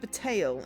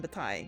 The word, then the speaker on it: Bataille: But it's pronounced Bataille in this rather than Bataille, which is what I wanted to say when I first read the thing. Yeah, that's what I said. It means battle, not bottle.